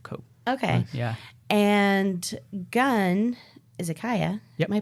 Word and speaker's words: Izakaya: And Gun, Izakaya. Yep. Am I pronouncing that right? Izakaya. Izakaya.